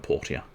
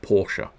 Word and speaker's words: Portia: i've now learned that it's called portia not porsche and nobody told me otherwise i had a week of playing that game not a single person went you know you keep calling it porsche yeah i don't think